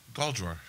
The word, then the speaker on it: Galdrar: So how do you say it? Galdrar. Just like it's spelled.